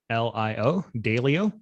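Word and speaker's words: Daylio: called dalio so it's spelled d-a-y-l-i-o dalio and it's available on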